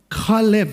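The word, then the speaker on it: כלב: Kalev. சொல்லுங்க. Kalev.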